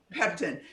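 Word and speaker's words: pectin: cabbage, and is it peptin? Peptin. So the core has peptin in it. I always say it wrong. I always want to say pepsin instead of peptin.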